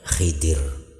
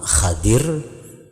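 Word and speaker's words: خضر: Nah, makanya digelar dengan gelar khidir. Jadi membacanya ada dua cara. Yang pertama Khadir. Nabi Khadir atau Nabi Khidir.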